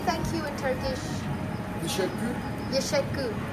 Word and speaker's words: teşekkür: Teşekkür Yeşekkür.